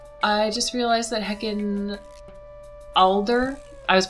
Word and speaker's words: Alder: a single time properly it's it's alder a-l-d-e-r not a-d-l-e-r hello editing noel here